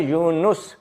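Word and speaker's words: Yunus: सूर यूनुस नंबर 10 उसकी भी नून के ऊपर पेश है यूनुस बाज लोग उ से यस लिखते हैं एन ए एस वोह गलत है एन यू एस यूनुस अच्छा जी अगला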